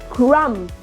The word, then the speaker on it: crumb: like plumber right again a combination of MB letter B is silent plumber not plumber right crumb and this one is